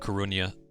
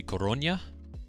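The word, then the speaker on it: Coruña: and another way no there's a tilde over the n so if you really want to pronounce it correctly it's going to be corona instead of corona but a lot of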